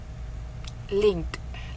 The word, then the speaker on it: linked: linked linked Iya ada kalau kalau dia enggak pakai ID kita bacanya link jadi ke-nya kedengaran link tapi karena dia sini sudah pas ditambah ID jadi linked linked jangan linked juga linked eh Indi